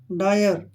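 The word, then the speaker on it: dire: अब जैसे य है इसको डीरे नहीं बोलना आपने डायर क्या बोलेंगे इसको डायर डायर डायर होता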